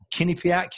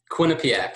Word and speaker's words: Quinnipiac: University now I think is it pronounced kinak University Quinnipiac yeah really CL almost exactly almost got